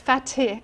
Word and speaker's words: Fatih: It says, "The International Energy Agency boss, Fatih Birol" I'm not sure if I'm saying his name wrong. No, it's Fatih. F T F A T I H.